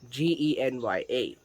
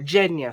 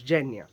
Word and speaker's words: Genya: character i would like to introduce is jenya g-e-n-y-a now how i read it in the book was genya with a g but in the series they call her jenya so i'll just assume that that is the